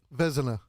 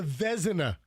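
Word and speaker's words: Vezina: The It's probably Vzina. It's Hell. Andrew, what is it? Vzna. Oh, it's the Vzina. I have a guy who actually knows the pronunciation.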